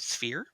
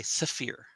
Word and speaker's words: sphere: If some people will say the word sphere as one syllable, or sometimes they might say sapphire. Sphere, because they're not really good with that S and Hmm. F together. So you'll hear like sapphire. Yeah. And sometimes it actually does stretch it into two syllables, but it's the same sort of phenomena.